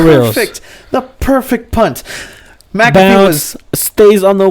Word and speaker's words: McAfee: Pat McAfee. It's like the antivirus McAfee.